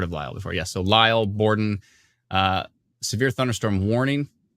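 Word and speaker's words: Lisle: yep uh early what's l-i-s-l-e elena you're the pronunciation expert yeah oh yes i've heard of lyle before yeah so lyle borden uh severe thunderstorm warning take this seriously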